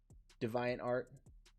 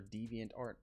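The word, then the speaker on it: DeviantArt: look at this guy divine art or deviant art i keep i keep mispronouncing that deviant art um but yeah dude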